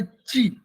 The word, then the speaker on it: qi: Whether is this QI, it is also pronunciated by chi, QI, chi, CHI, chi again chi.